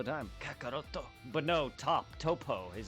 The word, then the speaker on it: Toppo: it's top like to his no it's not pronounced Topo it's pronounced toppo but his name is actually just top oh